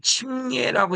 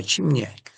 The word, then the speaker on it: 침례: 너희가 사례 세례로 세례로 그리스도와 함께 장사되고 여기서 침례라고 읽어야 맞아요. 침례. 세례라고 하는 말은 잘못된 용어입니다. 침례.